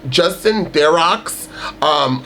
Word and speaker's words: Theroux: Justin Theroux, that's how you pronounce his last name.